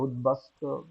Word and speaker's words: উদ্বাস্তু: হয় উদবাসত উদ্বাস্তু হ্যা উদ্বাস্তু এখানে উদের সাথে বলা এসেছে ব এর মত উচ্চারিত হবে।